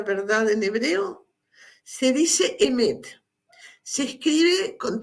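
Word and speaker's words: אמת: Se dice emet. Se escribe con 3 letras, ahí lo ven escrito, Aleph, Mem y Tav.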